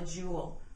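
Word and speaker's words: joule: It's called a jewel, uppercase J, and it's spelled J O U L E.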